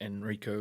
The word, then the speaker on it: Enrico: It's spelled slightly different, doesn't have a H, and it's pronounced Enrico rather than Enrique, which is his name.